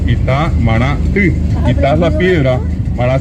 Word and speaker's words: Itamaraty: O uno dice el lugar, el centro de la alta política brasileña, Itamaraty, y ellos escriben Ti con la Y, y allí es correctamente pronunciado Itamaraty.